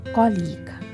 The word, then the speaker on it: colleague: Correct pronunciation of this word is, you have to think about it, whether this is colleague or colleague. How to pronounce it?